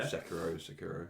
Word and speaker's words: Sekiro: Sometimes, if I could, I mean, playing it's Sekiro, isn't it? How you say it? Yeah. Yeah. Sekiro, yeah.